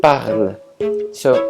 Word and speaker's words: parles: the verb changes to parle. So il parle, elle parle. But don't be fooled, the S in the parle is actually silent.